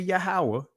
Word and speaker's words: Yahuwah: I know I say Yahuwah, which is the proper ancient pronunciation.